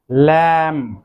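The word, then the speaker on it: lamb: এখানেও বি এর উচ্চারণটি কিন্তু সাইলেন্ট থাকবে। দেন the next one ইজ ল্যাম, ল্যাম, ল্যাম অর্থ ভেড়ার বাচ্চা, ল্যাম।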